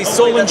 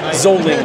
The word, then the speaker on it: Solingen: Yeah, we say Solingen in English, and then Zoling.